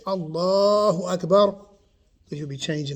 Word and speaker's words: Allah: vowel we're using elongate so when we say allah when we see it written phonetically we say a l so we put an emphasis on the lamb or the l then we're elongating the a right so um getting